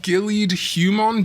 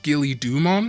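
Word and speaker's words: Ghilliedhumon: We do also have Gillied Humon, but actually, apparently that's pronounced Gilly-Dumon, related to the mythological creature the Gilly-Doo and the Gilly suit that snipers use.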